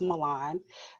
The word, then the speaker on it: Milan: So, just in case you were wondering, my name is pronounced Milan. It's like Milan in Italy, or like Milan, the Disney movie, how the kids say, however you choose to remember it. That is how you pronounce my first name.